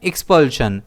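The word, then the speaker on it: expulsion: इसे हम प्रोनाउंस करते हैं एक्सपल्शन। इसमें स्ट्रेस एस पर रहता है।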